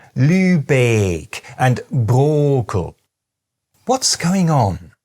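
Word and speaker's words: Lübeck: And this kind of thing is repeated all over northern Germany: places like “MEE-klen-burg”, “LÜ-beek” and “BROH-kel”.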